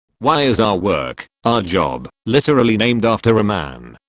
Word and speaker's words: Job: You go to your job, but Job in the Bible is a man who's heavily tormented by God.